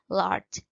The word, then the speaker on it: large: Kemudian untuk option yang B di sini large. Large dibacanya adalah J ya teman-teman, bukan large, bukan G tapi large pakai J.